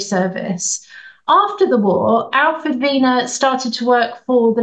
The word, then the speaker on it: Wiener: as you can hear he pronounced it the German Way and there's Dr Vena and he was a